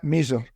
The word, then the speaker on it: Misr: Yeah, Mizar. Usually, if you spell it in English, it's usually MISR.